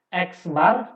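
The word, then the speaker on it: x̄: Means atau rata itu disimbolkan di sini ada, ini dibacanya X bar, di mana ini ada X, terus di atasnya ada topi ya, seperti topi ada strip di atas, ini dinamakan X bar, disebut X bar atau dibacanya dengan X bar.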